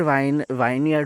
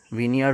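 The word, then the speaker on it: vineyard: अगर वाइन यार्ड होता ना, विनयार्ड होता ना, सॉरी मैं प्रोनाउंस गलत कर रहा हूँ, विनयार्ड होता ना तो सोने पे सुहागा होता।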